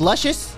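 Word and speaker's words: Lucis: self-same power it's pronounced luscious luscious it's pronounced luscious so luscious uh a magical Berry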